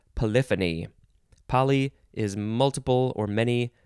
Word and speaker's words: polyphony: the synonym is well i would want to say it polyphony but i'm pretty sure it's pronounced polyphony poly is multiple or